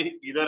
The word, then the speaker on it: either: तो हिदर एंड दिदर बोलते हो, तो यहाँ पे इधर एंड नीदर होता है, आइदर नाइदर नहीं होता है। नहीं, वो बचपन से कई लोग प्रोनाउंसिएशन बिगाड़ के रखे हैं।